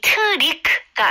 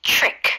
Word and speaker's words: trick: 이 트릭가 아니고요. 이름절로 네. trick. trick. 거의 CHR 발음으로 생각하면 좋을 것 같아요.